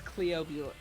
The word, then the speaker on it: Cleobulus: addicted to how is this spelled? With a G? No, it's Cleobulus. Cleobulus. C-L-E-O-B-U-L-U-S.